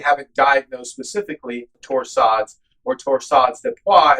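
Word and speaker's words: torsades de pointes: diagnosed specifically torsades or torsades de pois as properly pronounced.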